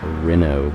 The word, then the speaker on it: Renault: I say Renault. I used to, I guess. I know it's Renault, but it just looks like it's spelled Renault.